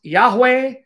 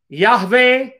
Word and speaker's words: Yahweh: to him is Yod-Heh-Vav-Heh, which can be pronounced Yahweh, Yahweh, Yehovah. Anglicized form, it's Jehovah.